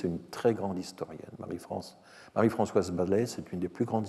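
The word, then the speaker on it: Baslez: Alors, un livre de référence sur le sujet, c'est Marie-Françoise Balaise. Je n'ai jamais très bien su comment prononcer Basselès, Balaise. Je pense que le S allonge le A sans être prononcé.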